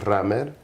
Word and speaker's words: Rammer: So when you put it together, it's Rammer. In Spanish, it's pronounced Rammer, which kind of sounds like more of a regular name, but they had no idea that that's an actual English word.